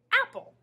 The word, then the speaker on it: apple: Apple. Notice how when we say the word all together, we just hear one sound for P.